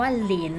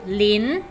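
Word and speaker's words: 林: นี้ เนอะ อัน นี้ อ่าน ออก เสียง ว่า หลิน นะ ลูก ลิ้น แปล ว่า ป่า นะ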